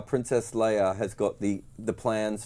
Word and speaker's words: Leia: it incorrectly and well how how do you pronounce Leia wrong Leia Leah Leah princess Le Princess Leah but the thing is